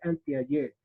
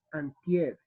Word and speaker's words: anteayer: antier en vez de anteayer. Ustedes no me lo están preguntando, pero nosotros a veces pronunciamos de esta manera. ¿Listo? Anteayer y es antier.